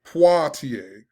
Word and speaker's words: Poitier: i pulled up a video so i could pronounce it properly poitier sidney poitier the first black person to win